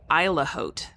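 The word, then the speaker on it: Isle au Haut: pullover and Sarah Sal pal one corrected my pronunciation it's actually good I've been calling it it's actually called isla Haute and it's um that is an island in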